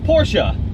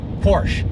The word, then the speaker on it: Porsche: but it's not Porsche it doesn't rhyme with porch no it's definitely not